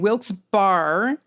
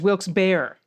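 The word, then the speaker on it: Wilkes-Barre: like i said so we got lehigh and wilkes bar as wilkes bear okay so it's lehigh and wilkes bear amen we have better mispronounced places and even better places that are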